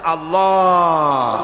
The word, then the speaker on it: আল্লাহ: পাকের নামের উচ্চারণ হচ্ছে আল্লাহ মুখটা একটু গোল হয়ে যাবে বলেন আল্লাহ আল্লাহ সুবহানাল্লাহ পৃথিবীতে বিভিন্ন